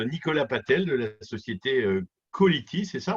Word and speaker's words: Callity: On est rejoint par Nicolas Patel de la société Colity, c'est ça? On prononce comme ça? Quality, exactement. Colity, génial.